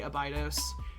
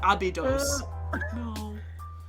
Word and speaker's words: Abydos: And yes, everyone laughs at me whenever I do a video on TikTok where I say Abydos, and everyone's like, "Isn't it Abydos?"